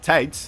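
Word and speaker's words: tijd: down no defeating time of course would be called tate in uh in dutch tights which sounds like tight or tied but then just barely isn't eaten sounds like you're mispronouncing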